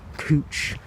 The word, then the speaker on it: Couch: cooch right here yes it is called cooch street even though it's spelt couch so i don't want